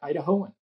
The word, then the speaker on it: Idahoan: potato you're an i how do you say it in Idaho are you an ioan oh we're an idahoan idahoan D Dum I